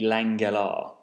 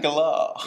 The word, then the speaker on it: Langella: Well, I think if we're going from the American trailer voice, it'd be Langella. I think that's how Trailer Man would pronounce it. Langella.